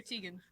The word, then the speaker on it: Tegan: It's because both are technically correct ways of being pronounced. Yeah. But so when I was born, it was like a 50-50. And then Tegan was also like a 50-50 split between male and female. Now it's like 99% a female name, and the main pronunciation's Tegan.